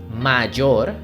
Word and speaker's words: mayor: Be careful with the pronunciation because sometimes we can confuse mayor, it's a strong pronunciation, with mejor, mayor, mejor.